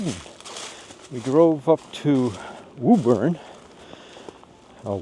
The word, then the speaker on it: Woburn: And then we hit the road and we drove up to Woburn, or Woburn as it's pronounced up here, and did a day trip into downtown Boston.